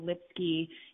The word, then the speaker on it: Lipsky: my name is Lipsky you can find me at Lipsky com and it's spelled lips sky but it rhymes with whiskey you can also find